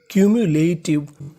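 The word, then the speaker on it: cumulative: अगर आपको इंग्लिश में कहीं पर आखिरी में टी आई वी ई लिखा मिले तो उसका उच्चारण करना है। टिव। तो पूरी मीनिंग क्यूटिव। क्यूम्युलेटिव। क्यूमुलेटिव।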